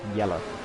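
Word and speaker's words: Jelle: a Dutch person um called j e double l e and his name is yeah it pronounced yellow so I assumed it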